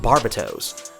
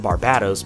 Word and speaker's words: Barbatos: to the present and the name is actually pronounced barbato's but I pronounce it Barbados because that's just easier and it rolls off